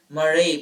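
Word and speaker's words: mare: the dark areas are known as maray Mar maray pronounced as maray which is the Latin word for Seas the lunar maray are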